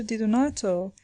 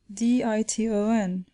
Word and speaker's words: Di Donato: The child was composing the name, using small letters and making it all one word, and had begun thus, D-I-T-O-N, Diton. The professor at once pronounced the word more distinctly, Di-do-nato, whereupon the child, without scattering the letters,